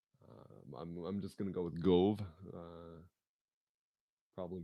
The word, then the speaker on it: Gove: Because I know there's an automotive shop and the proprietor, his surname is Cove, and that's how they pronounce it. So I'll say just switch the C to a G.